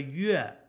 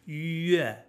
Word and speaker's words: yue: Just a plain old e, the exact same e we have in egg or a million other English words. So it's yue, yue, yue, and yue.